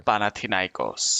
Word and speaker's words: Panathinaikos: name I don't know, I forgetting how to pronounce. Could you give us a reminder? Sure. Panathinaikos.